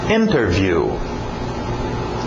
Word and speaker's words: interview: Interview. Interview. Geralmente pronúncia rápida, cai o T, fica só interview, igual internet, né? Interview, sem o T.